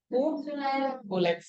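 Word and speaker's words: Culex: Kulex. Kulex atau kulex? Nah, jadi kalau bahasa Inggrisnya, tulisannya CUCLEX. Tapi dibacanya kulex.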